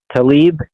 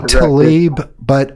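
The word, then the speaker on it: Tlaib: does a good job I say I say Tali but I think it is mostly Talib that's what everyone I I don't it's spelled TL a i b so I'll go with Talib I'm gonna you know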